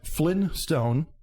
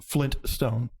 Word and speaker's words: Flintstone: people will remember as flynn stone and others remember as flint stone well yeah that's just how you say it that's regional dialogue yeah it's people being lazy and not pronouncing that t yeah flintstone flintstone flynn